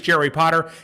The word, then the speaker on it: Jerry Potter: My name is Jerry Potter. Yes, it rhymes with the Boy Wizard, host of the Social